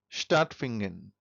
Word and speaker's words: stattfinden: I told you that if any word in German language starts with sp or st, then we pronounce it If any verb any word in German starts with sp or st, then we pronounce it as sh. So, here we will say say stattfinden.